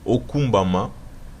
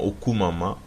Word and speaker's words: okumbama: Un exemple qui est bien connu, c'est le terme soit loué, qui se dit okumbama, mais que l'on prononce plus souvent okumama en abrégé.